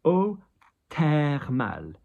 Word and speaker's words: eau thermale: So, eau thermale. So, TH in French is a T. It's hard. We don't have a TH in French pronounced as a th.